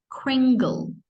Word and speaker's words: Kringle: carefully crunched on candy canes this word it's pronounced as Kringle oh yeah Gringo yeah that one Gringo yes